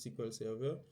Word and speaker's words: SQL Server: comme la fintech il y a aussi le sequel Server le SQL Server mais ça se prononce squel serveur il y a aussi le MySQL la plupart